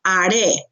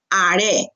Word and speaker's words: haré: Yo haré. Haré. Remember, H is silent. Okay, haré.